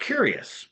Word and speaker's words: Cureus: It's in this medical journal that has a really wonderful and very curious name, and it's called Curious, but it's spelled Cureus, Cure hmm, Us, but it's yeah, pronounced Curious.